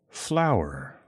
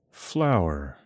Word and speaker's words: flour: is pronounced pretty similarly to the way it is spelled flower flower flower flower thank you so much for watching check out